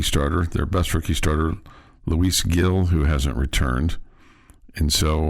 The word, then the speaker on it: Luis Gil: Just for future reference, it's Luis Gil. Gil, okay. Yeah. Oh, because it's Gil. It's pronounced with the H.